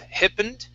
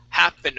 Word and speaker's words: happened: Instead of hippened, it's ha, happened. Open your mouth just a bit more.